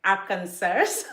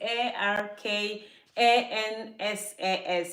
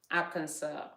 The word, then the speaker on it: Arkansas: Arizona Arkansas actually Aransas the way I pronounce it before was like AR cancers cuz that's how you spell it the spelling is a r k a n s a s so I would say